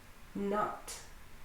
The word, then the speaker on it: knot: Knot.